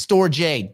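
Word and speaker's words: Storj: No, the company is storage. The token is Store J.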